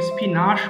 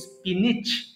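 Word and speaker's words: spinach: ফি মোটরশুটি ফি motor এরপরে স্পিনিচ দেখেন এটার উচ্চারণটা অনেকে স্পিনাশ বলে ফেলে আনফরচুনেটলি এটা হবে স্পিনিচ স্পিনিচ পালং শাক স্পিনিচ পালং শাক এরপরে আসি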